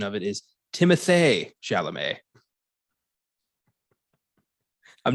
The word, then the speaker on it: Timothée Chalamet: We've apparently been mispronouncing Timothy Chalamet's name. The apparent correct pronunciation of it is Timothée Chalamet.